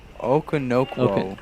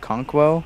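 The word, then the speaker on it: Okonkwo: Chigozium Okonokwo. Yeah. Yeah. Conquo. Conquo? Yeah. Oh, that makes more sense, yeah.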